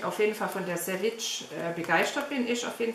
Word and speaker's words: Savage: Hätte mir besser gefallen, das Französisch, aber es spricht man wohl Savage aus.